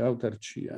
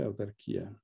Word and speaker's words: autarchia: Visto che ho citato Einaudi diceva in corretto italiano si dice autarchia, non si dice autarchia.